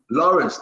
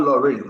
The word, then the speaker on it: Lawrence: Lawrence, not Lorraine, Lawrence.